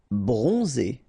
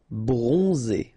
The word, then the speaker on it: bronzé: Bronzé. So O-N, on, and then Z. It's really pronounced like Z. Bronzé.